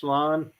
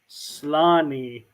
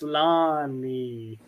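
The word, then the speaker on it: Sláinte: Is it pronounced Schlan?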